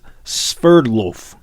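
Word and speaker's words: Sverdlov: and keep going uh took me a while to figure out how to pronounce this guy's name but it is spurred loaf so sverdloff 43 took time out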